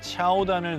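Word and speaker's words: 乔丹: 먼저 큐사는 회사명에 조던의 중국어 발음인 차오단을 넣어서 설립.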